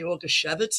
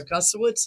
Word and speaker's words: Augusiewicz: Well, you could say Augusiewicz in Polish, Yeah, or Augusiewicz in English.